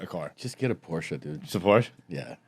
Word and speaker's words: Porsche: owner, you say Porsche. That's the first page of the manual. That's like the pronunciation.